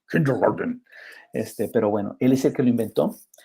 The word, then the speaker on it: Kindergarten: Que en alemán, porque el señor es alemán, debe haberse pronunciado más o menos así, pero así como más regañón, kindergarten.